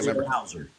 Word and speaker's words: Bowser: Yeah, Bowser.